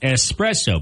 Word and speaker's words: espresso: of people say Etc it's like espresso people add the X that's not there it's not espresso it's